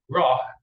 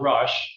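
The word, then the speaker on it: Roch: have M Joseph Paul Eve Rock not rush as some people pronounced because it would need the E if it was the French in the room corate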